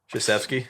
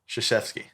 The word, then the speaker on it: Krzyzewski: Krzyzewski. Dude, One more time. Krzyzewski. Krzyzewski. Krzyzewski. There's no K sound in there. That No. sound like Krzyzewski. No. Krzyzewski. Krzyzewski. Krzyzewski.